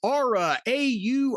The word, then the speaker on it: Aura: And by the way, it's Aura. Auror A, folks. See, I have no accent. I'm very neutral, so I can pronounce Aura Frames.